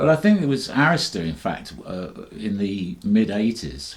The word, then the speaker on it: Arista: And that was Clive Davis, and you pronounced Arista correctly, which is good.